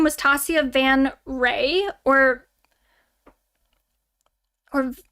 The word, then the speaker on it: van Ree: ex's name was Tacia Van Ree or or Vanri. It's like I think it's pronounced Ray, but it's spelled like re.